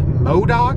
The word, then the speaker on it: Modoc: I just entered, I think it's pronounced Modoc National Forest, and the landscape has definitely changed.